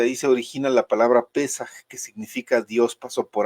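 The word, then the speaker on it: פסח: es en hebreo, eh que se pronuncia o se escribe Pesaj.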